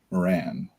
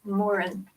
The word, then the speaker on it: Morin: all goes well, Marie Moran. Am I saying it right? It's Morin.